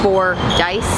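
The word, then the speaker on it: Fordyce: one is called the four dice kind of like four dice that's how you pronounce it but recently we had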